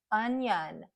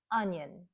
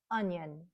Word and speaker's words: onion: the short use sound to both syllables it would sound like onion onion hear that second syllable How much Fuller it is unan unan but that's not what we do we reduce that second syllable because it's unstressed so the schah sound is very light and quick onion onion onion so